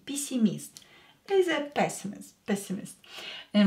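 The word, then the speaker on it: пессимист: to the English word PC mist pessimist here ye is not stressed so we will pronounce it as E when e is not stressed pronounce it as e pisimist is a pessimist pessimist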